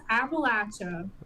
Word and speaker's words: Appalachia: is Appalacha. And a lot of people have started that thing now. If you say it wrong, I'll throw a apple at you.